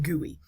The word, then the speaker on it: GUI: for graphical user interface okay and again it's pronounced guey um guies are visual interfaces to your computer's